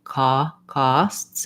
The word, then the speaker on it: costs: In case you're wondering, the vowel in costs is an ah vowel.